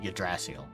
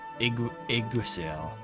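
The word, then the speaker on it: Yggdrasil: I bet I'm like before like voice acting, I was called it Yasril. It's Igrasil.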